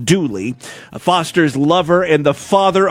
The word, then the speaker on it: Dula: Confederate veteran Tom Dula, pronounced Dooley, Foster's lover and the father of her unborn child, was convicted of her murder and hanged.